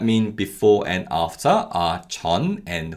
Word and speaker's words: 전: key syllables that mean before and after are chan and who these syllables have chinese origin and they are used